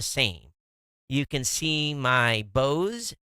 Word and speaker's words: Bose: You can see my Bose, B-O-Z-E, Sound Sport headset in the picture.